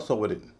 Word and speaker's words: sovereign: फॉरेन और सोवरेन, इनमें पहले सिलेबल पे जोर है, दूसरा सिलेबल हल्का हो जाता है, इसीलिए इसका उच्चारण होगा फॉरेन या सोवरेन।